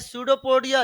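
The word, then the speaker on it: pseudopodia: बोलते हैं सूडोपोडिया, लिखते हैं पसीडोपोडिया।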